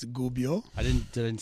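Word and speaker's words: Gubbio: my uh correct my absolutely astonishingly bad Italian pronunciations of the of the clubs so Gubio yeah there's no D and Gio it's Gubio i didn't did I didn't say Dubio i said Gubio you said Gubio okay whatever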